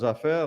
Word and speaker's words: Japhet: Do, Jafé se escreve Japhet, não é isso?